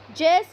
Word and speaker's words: Zeus: Zeus, you can say. You can pronounce it as Zeus.